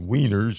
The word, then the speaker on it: Wiener: And Wieners, that name comes from Vienna. In the German language, Vienna is pronounced with as if it were, a W, Wiener.